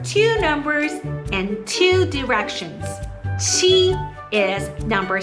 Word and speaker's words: 七: 七 is number 7. To pronounce 七 is very simple. It's this one. Ch, ch.